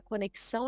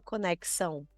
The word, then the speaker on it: conexão: conexão a gente fala conexão então a gente trouxe uma sílaba anterior para falar com mais ênfase sendo que a gente sabe que é o ão que deveria ser mais forte naquela palavra mas a gente não